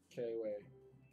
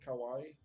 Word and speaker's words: kawaii: Is that how you say it? K-way. K-Y. K-Y? No. Kawaii.